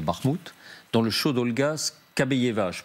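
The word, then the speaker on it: Скабеева: Et toujours dans l'atmosphère de cette bataille de Bakhmout, dans le show d'Olga Skabeyeva, je prononce bien... Skabeyeva.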